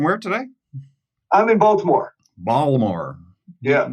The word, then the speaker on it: Baltimore: in baltimore baltimore yeah you pronounce the t i thought you weren't supposed to do that if you're local i'm not i'm a transplant from elsewhere so so i uh i i enunciate every letter so we're going to